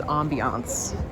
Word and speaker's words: ambience: Well, the French way of pronouncing it is ambiance, but in English it's ambience, right?